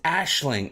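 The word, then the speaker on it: Aisling: As promised, pronunciation is Ashling.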